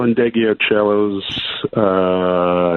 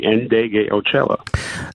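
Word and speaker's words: Ndegeocello: No, if you look at the name, you'd say it almost phonetically, Indegliocello.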